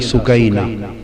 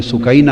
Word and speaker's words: سکینہ: لخت جگر شہزادی سیدہ سکینہ، اصل نام ان کا عربی وزن میں سکینہ ہے، عرف عام میں سکینہ چلتا ہے، مگر اصل لفظ سکینہ۔ سیدہ، میں عرف عام